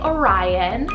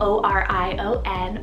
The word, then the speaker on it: Orion: meaning defending of men i have the name orion spell o r i o n orion and it's the brightest constellation in the